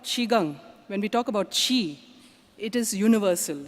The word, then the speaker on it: Qi: believe in so basically she okay Qi is pronounced as Qi Qi means energy prana vital force or bioelectricity